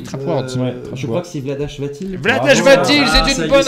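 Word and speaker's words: Vlaada Chvátil: Je crois que c'est Vladash Vatil. Vladash Vatil, c'est une bonne réponse. Je crois qu'on dit Vladak Vatil, mais je me suis trompé hier sur la Auteur prononciation.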